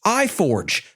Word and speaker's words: i4g: G Storage optimized instances these are of course pronounced I Forge since ec2 is heavily